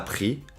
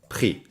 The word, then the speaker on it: pris: participe passé prix a pris compris et mis attention on ne prononce jamais le s les participes passés en